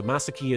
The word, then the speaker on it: Masaki: So, masaki is the pronunciation in Japan.